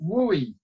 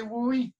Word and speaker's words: WUE: big reveal wooy answer C yay and it's pronounced wooy I I hear people all the time what's that woo deal or the Western thing wooy if you say wooie we'll be right there for you and parents